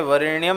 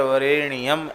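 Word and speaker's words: वरेण्यम्: और जप के समय वरेण्यम न बोलकर वरेण्यम ऐसा बोलें।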